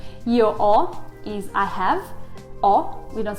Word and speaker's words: ho: or is i have or we don't say ho it's spelled h o but it's o without the h so we never pronounce the h it's just a symbol